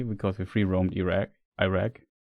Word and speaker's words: Iraq: Iraq. How was it pronounced chat? Iraq. Okay. Iraq like like German with a with the English R.